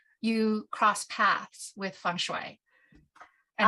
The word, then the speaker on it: feng shui: So I decided to look into this so-called Feng Shui, which I now know is pronounced Feng Shui.